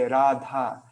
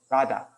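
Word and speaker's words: Rādhā: like if you're speaking if you want to speak in prop with proper sanskrit pronunciation then then you would you would say radha you know you don't go rada you know like it's you you do um elongate the vowels i guess all these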